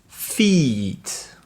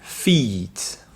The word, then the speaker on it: feet: Vous avez la différence de prononciation entre fit, qui veut dire être en forme, être fit, fit, et vous avez feet, qui sont les pieds, ce qui est le pluriel de foot. Donc feet.